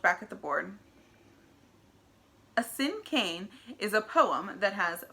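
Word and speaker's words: cinquain: not heard me correctly the word is pronounced like the word sin and Cain sin Cain may cross her arms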